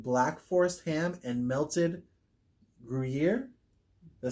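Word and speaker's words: Gruyère: It's a toasted pretzel bread topped with Black Forest ham and melted Gruyere.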